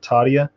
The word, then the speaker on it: Tadhya: It's called Tadia, and you can get on the mailing list.